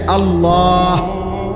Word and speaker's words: আল্লাহ: শেষে আল্লাহ, শেষে একটা গোল হা আছে, ছোট হা।